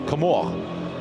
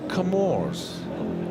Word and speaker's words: Comoros: I made a few phone calls today because the French pronunciation is Comore. And speaking to some friends in South Africa, they refer to them as the Comores.